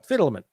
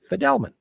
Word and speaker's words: Fidelman: We had been pronouncing the name wrongly. The right name to pronounce the name is Fidelman.